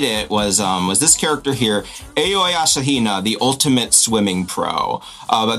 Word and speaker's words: Aoi Asahina: And the person who did it was this character here, Aoi Asahina, the ultimate swimming pro. But that's how they pronounce her name in the game.